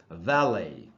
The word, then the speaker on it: valet: French language में एंड में जो कॉन्सोनेंट होता है उसका प्रोनाउंसिएशन नहीं होता, उसका उच्चारण नहीं होता, इसीलिए इसमें जो टी है लास्ट में VALET, उस टी का उच्चारण नहीं होगा, साइलेंट होगा, और इस वर्ड का प्रोनाउंसिएशन है वैले। वैले।